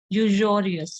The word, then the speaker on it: usurious: extortion का लिख लेते हैं, कोई बात नहीं अपन, यूजर और यूजोरियस, इसको यूजोरियस प्रोनाउंस करते हैं, मतलब यूजोरियस थे, मतलब वो